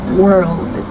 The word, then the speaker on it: world: 월드 혹시 구분이 가시나요 월드의 단어에는 L 하나가 더 붙어 있어요 그리고 r l이 두